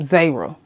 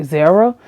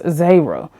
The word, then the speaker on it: Zahira: That's how you pronounce her name Zahira. I was literally pronouncing myself like Zahira, but it's Zahira. So, they were dealing with